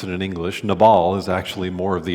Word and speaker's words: Nabal: the beginning of this story his name is nabel as we often pronounce it in english nabal is actually more of the appropriate way to pronounce his name so nabal his name means fool how many of you